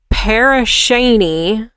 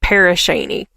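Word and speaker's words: Pere Cheney: once a bustling lumber town in Crawford County, Paris Sheny was settled. It's not spelled like that. So, uh, but I bet you No. Is it? Did you Google it? Okay. Yeah. Like it's it's Paris Shaney.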